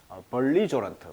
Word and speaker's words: belligerent: 그래서 호전적인, 공격적인, 그래서 벌리저런트, 발음이 이음절입니다. 벌리저런트, 벨러코스, warlike, 전쟁을 좋아하는, 즉 공격적 이런 뜻이에요.